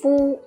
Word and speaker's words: 夫: It's pronounced as 夫.